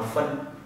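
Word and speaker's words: 分: Cái này các bạn đọc là phân.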